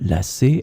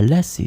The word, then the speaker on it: lacer: In this lesson, we will see together two words that are written differently but pronounced the same way. Lasser, lasser. So we'll start with the first one, lasser, and we'll have two examples.